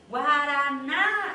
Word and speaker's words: guaraná: Você Chama para mim então ela é a sílaba forte então chamei ó guaraná Olha aí o que que eu fiz guaraná eu vou falar assim o Paraná é assim